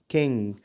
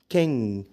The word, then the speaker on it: king: كلمه ين ين وكينج كينج ما تقولش ينج قول ين وما تقولش كينج قول كين كينج كين طيب لو انت كملت